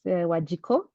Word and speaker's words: Wanjiku: as you have heard my name is wajo that's how you say it in my mother tongue and uh I do